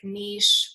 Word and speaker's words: niche: have a very specific niche or niche i know we all call it there's two different pronunciations um and so i